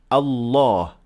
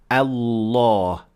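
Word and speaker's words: الله: notice right away that we say by default allah so in this case we make the lamb full mouth so that's why we say allah law however the lamb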